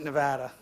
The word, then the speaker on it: Nevada: the silver Rush was in 59 back to Nevada yeah we pronounce it Nevada and and uh almost 200 million ounces of